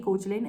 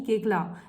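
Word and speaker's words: Koechlin: she had mentioned that her name is not Kalki Kochlin, it's Kalki Kekla. That's how you pronounce her name.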